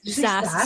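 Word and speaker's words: SaaS: SAS software as a service.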